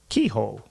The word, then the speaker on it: Kehoe: out to Cameron Kehoe you said it right keyhole yeah and he he